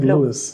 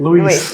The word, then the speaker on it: Louise: saying your name wrong I've been saying Lewis the ways it's fine Louise Lewis you can definitely